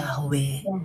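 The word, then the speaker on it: Yahweh: orang lain juga versinya Oh bacanya itu menambahkan a lalu menambahkan e jadi yahwe ada yang membuat yeha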